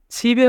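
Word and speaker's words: 집에: ছিবে ওদা, ছিবে ওদা মানে বাড়িতে আসা। এখানে বাচ্চিমের পরে ইয়ং থাকার কারণে ইয়ংয়ের স্থানে বাচ্চিমটি যাবে, তাই উচ্চারণ হবে ছিবে।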